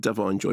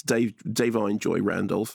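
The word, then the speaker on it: Da'Vine Joy Randolph: Joy dine Joy Randolph I pronounced her name before I said dine Joy but it's Dave dine Joy Randolf uh best original screenplay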